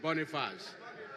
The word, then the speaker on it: Boniface: My name is Boniface. That's how French pronounce it, Boniface.